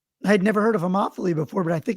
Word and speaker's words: homophily: People tend to engage in what's called, and I Googled the pronunciation, homophily.